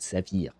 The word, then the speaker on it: saphir: In French, we have the similar word, exactly the same word, except we pronounce it saphir.